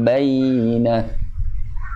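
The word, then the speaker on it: بيّنة: Di kata bayyinah. Bayyinah. Ya, itu dibacanya dengan, walaupun dia syiddah, mad tasdid ya. Jadi penekanannya itu tidak dengan bacaan syiddah, namun dengan sifatnya yang ada pada ya, yaitu rohwah.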